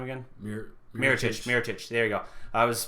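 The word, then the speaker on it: Mirotić: Mirotic. There you go. I was blanking on how to actually pronounce the name.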